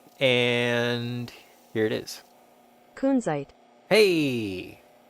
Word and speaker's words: Kunzite: And I also, because we're about to look at it under the microscope cam, I Googled Kunzite pronounce, and here it is. Kunzite. Hey! Kunzite. Slow it down. Kunzite.